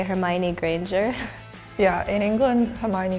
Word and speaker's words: Hermione: There's different pronunciations. Hermione is correct, and then I would say Granger, maybe.